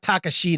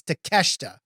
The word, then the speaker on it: Takeshita: it does not look it's not pronounced the way it looks like it's not takashita it's takeshita whatever same thing uh he's